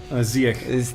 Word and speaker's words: Ziyech: Yeah, he's, I was going to say Ziyech. Ziyech. The CH is silent.